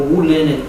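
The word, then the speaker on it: 武林: And Molum, or Wu Lin in Mandarin, means the martial forest.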